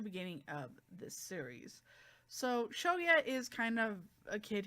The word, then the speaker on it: Shoya: No, it's not Shoka, it's Shoya. There you go. Sorry, Shoka is the girl that that gets kind of introduced mostly in the beginning of this series. So Shoya is kind of a